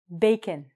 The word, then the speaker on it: bacon: What's going on is that all of these words I've written on the board actually end in I-O-N or O-N, but we pronounce them like I-N.